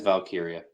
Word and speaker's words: Valkyria: Chelsea Green Lyra Valkyrie valkyria is it valkyria it's it's valkiria valkiria Tiffany Stratton Naomi and